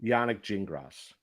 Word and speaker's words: Yannick Gingras: playing tonight he's got Yannick gingris I think is how you say the name Yannick gingras that's how you say it yes oh there it is